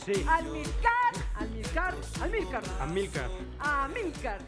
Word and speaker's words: Amílcar: Amílcar. Ah, sí. Con acento en la I. En la I. Amílcar.